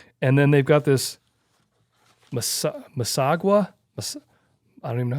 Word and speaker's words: Massasauga: And then they've got this Masagua. I don't even know how you say it. Massasauga.